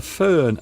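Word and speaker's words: Föhn: Now, as you can see, the word itself looks foreign, and that's because it is derived from another language. The Fern effect. And there at the bottom you can see the actual way of pronouncing it, fern.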